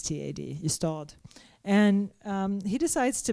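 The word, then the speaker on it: Ystad: writes about a little tiny provincial town called IST is how it's pronounced it's spelled y s istal and um he decides to base his detective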